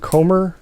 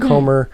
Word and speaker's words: Comer: And so they're adapting this into a movie now, starring Jodie, I think it's pronounced Comer, something like that. Jodie Comer.